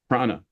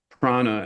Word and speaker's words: prana: According to the sometimes fallible internet, it's simply pronounced prana, which is how we always pronounced it, rather than the Buddhist word for wisdom, which is pranya. But they're spelled the same way with little different diacritical marks to give you the slightly different pronunciation.